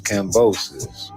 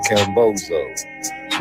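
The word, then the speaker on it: Cambosos: His name is Cambosus, not Camboso.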